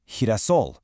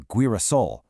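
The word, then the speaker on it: girasol: Whenever a G is followed by an E or an I, it completely transforms into that soft breathy sound.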